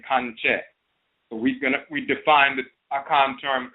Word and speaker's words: Kankye: The term Kankye is vocalized in the Twi language of the Akan as Kankye.